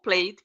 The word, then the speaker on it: played: letter y is here so I have to pronounce only the D okay I'm gonna repeat the verb here play the last letter of the verb is why why is in this group here in which I pronounce only the D I don't pronounce the e okay so we're going